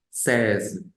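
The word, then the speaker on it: seize: es un número compuesto es una palabra simple que se pronuncia o que se dice ces ces bien em Ahora sí de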